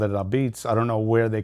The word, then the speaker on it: apizza: But we've trademarked Ahbeetz. It was a tough trademark to get because it's used in Wikipedia. It's the pronunciation of Apizza.